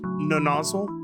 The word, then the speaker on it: Nonozle: I'm gonna assume it's pronounced Nonozle? Nonozle? Nonozle? There's no two Z's, no nozzle. Like puzzle.